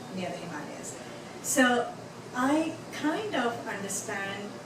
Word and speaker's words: Himalaya: have I grew up in the foothills of Himalayas yes it's it's pronounced Himalaya so I'm going to keep it